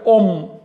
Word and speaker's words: on: Quiero decirles que se pronuncia on de manera normal, pero si va seguido de una vocal, se pronuncia om.